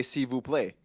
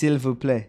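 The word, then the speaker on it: s'il vous plaît: Because every time I met them French, they always say Cu play. It's Silv [cough and clears throat] play. No, it's silvu play. Civ play. Do you pronounce the L?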